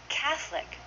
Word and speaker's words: Catholic: that with me camera Catholic we say that Catholic two syllables say that with me